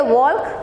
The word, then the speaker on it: walk: we do we say walk we say walk that means the sound of l is not pronounced it's not said so l becomes silent the sound of l